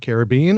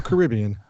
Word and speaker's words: Caribbean: Is it Caribbean or Caribbean? Both. So where are you from? Both. That's correct. That is the correct answer.